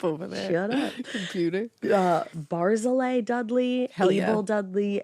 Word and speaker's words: Barzillai: I looked it up and he goes, Barzillai. It is easy. Barzillai. Like he was like, you can do it.